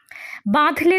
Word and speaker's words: বাঁধলে: বাঁধলে তোমাকে, বাঁধলে চন্দ্রবিন্দু আছে, বাঁধলে তোমাকে বনস্পতির নিবিড় পাহারায় কৃপণ আলোর অন্তঃপুরে।